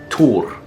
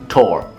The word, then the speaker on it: Thor: Thor Well, it is pronounced Tur/Tor but I'll just say it "Thor" well, Thor is, of